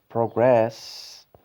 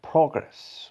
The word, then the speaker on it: progress: For example, in the word progress and progress, we've got two types of stress. The first in the first syllable, the second in progress in the second syllable.